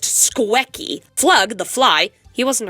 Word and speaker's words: Squecky: Yes, I spelled it like that on purpose. It is pronounced Squecky.